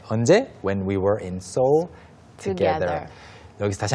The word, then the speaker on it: Seoul: 다들 아시겠지만 서울은 영어로 발음 어떻게 한다? Seoul. Seoul. 영혼은 발음 어떻게 한다? Seoul. Seoul. 그러면 영혼하고 서울의 영어식 발음하고는 발음 차이가? No, there is none. 없죠. I was about to say none. Wait, 없다. Yeah, you were going to answer me in Korean. Yeah, so there's no distinction, no difference between 서울 and 영혼. Right. They're exactly the same.